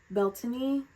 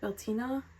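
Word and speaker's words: Beltane: It's interesting because the um we have Beltiny, is that it? Beltina coming up. I know it's it's spelled Beltaine, B L T A N E, but that's not how you pronounce it.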